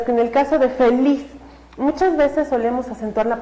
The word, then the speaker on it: feliz: Sin embargo, cuando nosotros escuchamos la palabra feliz, otra vez escuchamos que el mayor énfasis está en la última sílaba. No es feliz, es feliz.